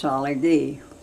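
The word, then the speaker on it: Tsalagi: TSA, and that is pronounced Salagi. That's an Indian word for Indian ladies. Salagi.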